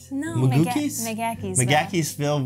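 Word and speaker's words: McGaheysville: So this is Magakiesville, Virginia. It doesn't look like that, but that's how the locals say you can it, see the ski resort like it's out our window.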